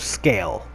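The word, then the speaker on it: Sgàil: It's spelt Seagal, but they say it's the island of Scale.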